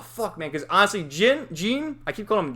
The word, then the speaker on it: Jin: ] man because honestly gene i keep calling him jin because it's spelled jin but it's pronounced gene he was my favorite